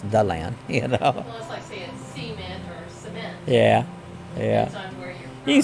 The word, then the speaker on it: DeLand: that they'll call here deland they'll call it d land and it's like no no it's it's the land you know yeah yeah you say it how